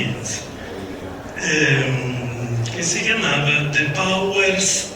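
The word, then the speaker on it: Eames: chiamavano Charles e Ray Innes, credo si pronunci, e Hannes è scritto, quindi Innes, che si chiamava The Powers of Ten, i poteri del 10.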